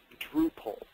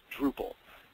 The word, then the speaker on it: Drupal: had meant to mention it's Drew pole it's like Drew carry and pull as I'm pulling something Drupal it's that's the official canonized pronunciation so we can finally